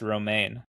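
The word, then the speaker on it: Romijn: Rebecca Roma, you mean? Oh, what? Oh, it's Roma.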